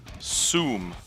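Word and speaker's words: Sooom: right first up so this is the zoom i'm assuming that's how it's pronounced s-o-o-o-m three-o's by wood and breath uh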